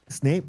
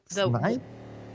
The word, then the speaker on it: Snipe: Snape, or what was the pronunciation again that time? Snipe? Snipe, yes.